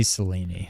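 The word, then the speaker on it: Selene: It's not they say Seleni.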